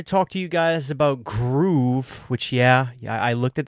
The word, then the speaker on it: Gruv: Apparently, it's Groov. Come on. Give me a break. It looks like Groov. Okay, gruv. What does that look like? Okay, but you guys win. I'll say it right.